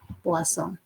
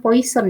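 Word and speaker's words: Poisson: sebenarnya diturunkan dari proses puasa dibacanya bukan Poison ya ini dari bahasa Perancis perhatikan sifat-sifat dari proses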